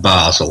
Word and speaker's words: Basel: But the Swiss people call it Basel, so...